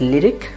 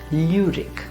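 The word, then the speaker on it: Lyrik: We pronounce it as lyric. You will tend to pronounce it as lyric because of English, but remember it should be lyric.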